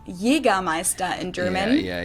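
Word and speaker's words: Jägermeister: From shoes to alcohol, this is pronounced Jagermeister in German. Yeah, Jagermeister. English speakers usually say Jagermeister, which is pretty much the same, just with a pretty thick accent.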